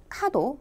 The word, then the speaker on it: 角: 다음 으로 , 뿔 을 뜻 하는 한자 角 ( 카도 ) 는 " 모서리 " 또는 " 가장자리 " 라는 의미 를 갖습니다 . 참고 로 , 뿔 을 뜻 하는 한자는 ' 카도 ' 대신 ' 츠노 ' 로 읽는 경우